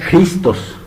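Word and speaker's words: Χριστός: En griego significa, de hecho se pronuncia Christos, que significa ungido.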